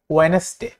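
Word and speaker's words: Wednesday: যেমন ওয়েডনেসডে, আমরা কিন্তু ওয়েডনেসডে বলবো না, আমরা অনেকেই ওয়েডনেসডে বলে থাকি, বাট এটা হচ্ছে ভুল উচ্চারণ, এটা হবে ওয়েডনেসডে।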